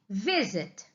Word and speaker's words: visit: Agora, se eu falo para vocês assim, visit. Visit. A sílaba tônica é a primeira, vi.